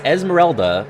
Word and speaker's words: Esmeralda: Her name is Esmeralda, but it's spelled like Esmeralda. That is something that I see people trip up on a lot. There is an A.